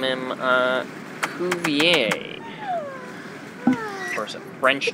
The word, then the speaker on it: Cuvier: Of course, it's French, so they pronounce it like Cuvier.